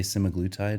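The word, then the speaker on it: semaglutide: that work so the smaggletide specifically so people am I saying it wrong I say magnetite can and any other Medical Professional would say semi-glutid okay I don't know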